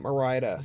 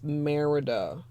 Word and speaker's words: Merida: mindful saying it because I just learned I've been saying it wrong ever since I got it and calling it Moriah it's Merida Color Me thank you